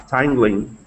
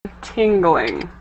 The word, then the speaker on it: tingling: TD TDCs for example focuses on the dorsal arterial perome tangling.